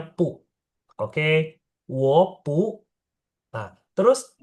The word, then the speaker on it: 不: B itu dibacanya P. Jadi BU bacanya pu.